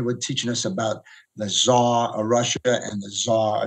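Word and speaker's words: Szar: So I was pronouncing it Tsar. And guys were calling me Caesar and Cesar. And I said, nah, I dropped the Z.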